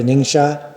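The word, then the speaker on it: Ningxia: I really want to go to Ningshot. Is it I pronounced that correctly?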